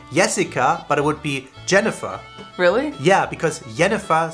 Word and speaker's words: Jennifer: but it would be Jennifer really yeah because Jennifer sounds stupid it sounds like the girl from the witch Jennifer but we don't say yennefer really yeah we say Jennifer really would the nickname